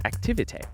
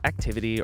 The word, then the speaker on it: Activité: activity first is that it's pronounced activity not activity or activite or anything else activity it's French second you need to